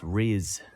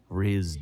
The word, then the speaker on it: Rhys: like yeah exactly exactly it's rizz rizz darby oh he is an